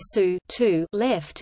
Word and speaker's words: SU(2)L: Here, SU 2 L pronounced SU 2 left is none other than